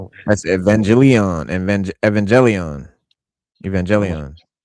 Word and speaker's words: Evangelion: That's Evangelion. Evang Evangelion. Evangelion. That's Optimus Prime. Uh, Evangel. Yeah. Evangelion. Evangelion. Evangeline. Look. Evangelion. Evangeline. It's anime. Yeah, you could pronounce it like that, too.